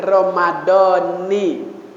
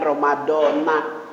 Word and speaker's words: Romadhon: Romadhona hadzihis lillahi Hai kalau belajar ilmu alat belajar Nahwu Shorof bacanya Romadhoni kalau ngikutin kebiasaan yang udah umum dari zaman guru Sya'ban ada bacanya Romadhona Ya udah nggak papa Romadhon nasaqua Sanya Romadhoni juga sah puasanya Aturan itu yang kagak